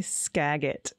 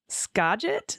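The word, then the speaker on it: Skagit: on my coffee hearing AG say scagg it that lovely area is pronounced scet scet and as to the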